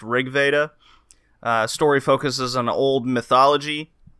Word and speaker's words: RG Veda: work title was uh rg veda it's pronounced rig veda story focuses on old